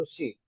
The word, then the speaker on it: ऋषि: ऋषि में के हम बोलेंगे ऋषि, ऋषि, तो वास्तव में रू और ऊ नहीं जुड़ा है वहां, र और ऊ का उच्चारण नहीं हुआ है, वहां क्या हो रहा है, र र र। हाँ, यानी एक ऐसा सा थोड़ा सा उकार को रोका गया है वहां पर।